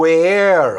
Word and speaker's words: where: Reparem que eu não pronunciei nem o E da palavra where e nem o E da palavra are.